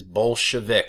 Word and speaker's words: Bolshevik: there it is that is exactly how it's pronounced it is Bolshevik I know it sounds like bad word but